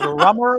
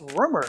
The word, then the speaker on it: Rumer: until the end I I get all kinds of crazy ways to pronounce my name and I thought it's simple it's rumor how you know and